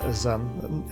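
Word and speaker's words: Xun: Zun, I'm assuming it's a Zun. X's are normally pronounced with a Z at the beginning of a name.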